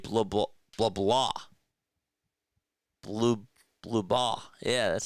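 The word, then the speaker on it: Blubaugh: Blue.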